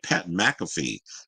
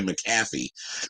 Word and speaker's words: Pat McAfee: pat mcafe MF how do you say name Pat McAfee I think it was like I was like damn why couldn't I say his name I was say maffy maffy girl m but anyway they said the